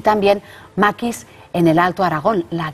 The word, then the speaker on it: maquis: Y se coge este nombre, a un individuo llamado maquisard, el conjunto es el maquis, el maquis, lo que pasa es que la S los franceses no la pronuncian, la S final, ¿no?